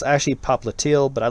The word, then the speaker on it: popliteal: and then this one that i like to mispronounce it's actually popliteal but i like pop lydial because it really emphasizes the because that's how